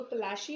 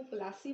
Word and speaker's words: Plassey: जो अंग्रेज थे, क्योंकि देखो उनकी प्रोनाउंसिएशन अलग होती है, अलग तरीके से प्रोनाउंस करते हैं वो, तो प्लाशी उनको बोलना नहीं आता था, वो प्लासी बोलते थे।